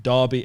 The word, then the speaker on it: Derby: the year really yeah Derby Americans say Derby it's d-e-r-b-y okay kind of a